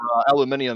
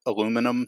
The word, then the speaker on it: aluminum: It was the actual inventor of it pronounces it aluminum, spells it aluminum.